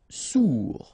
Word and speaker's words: sourd: Sourd. Final D not pronounced. O-U together. Ou sourd. Ferme.